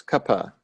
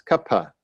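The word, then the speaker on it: Kapha: that is Kappa and Kappa is just 2 light syllables Kappa when we spell it in English we spell ka PHA but that's because it's an aspirated pup so it's Kappa it's not really a compound consonant so we use English to approximate other languages sounds but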